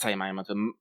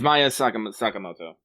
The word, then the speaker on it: Maya Sakamoto: Sari Hayami, Saya Miyamoto, not Saya Miyamoto, fuck, I just butchered her fucking name. You flipped the syllables. I did, it's Maya Sakamoto.